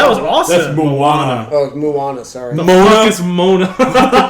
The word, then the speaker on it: Moana: The Rock was going to be bad in Mona but I was wrong that was awesome Moana oh Moana sorry is Mona